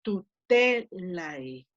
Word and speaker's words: tutelae: estoy poniendo en rojo, solamente las que tienen el macrón, ahí va a caer el acento.